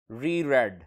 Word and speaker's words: reread: Dear students, reread. रीड की form के साथ, जो कि यहाँ सेकंड फॉर्म में इसे रेड प्रोनाउंस करते हैं.